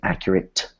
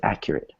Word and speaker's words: accurate: two vowels however uh since it ends the word it's still a t and you're right it's a soft sound so instead of saying accurate we say accurate so everybody repeat that